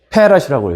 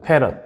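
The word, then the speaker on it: farad: 그리고 커페시턴트는 C로 표현을 하고 단위는 F로 써요. 페럿이라고 얘 패럿. 뭐라고 읽는다? 페럿.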